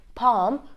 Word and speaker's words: palm: Palm fake and wood I'm not pronouncing the L in them it's not half it's not Palm it's not Funk it's not wood it's half Palm folk and wood so